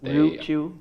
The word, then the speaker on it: Ryukyu: It's the indigenous people from Okinawa, and so it's the Ryukyu Islands, but Ryukyu? Yeah. Okay. Like RYU. Yeah.